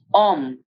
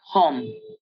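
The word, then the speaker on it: homme: in the previous videos remember that the alphabet h or ash as we call it in french is considered a vowel in the french language and will therefore not be pronounced when it comes in the beginning of a word so it's om and not hom moreover when a french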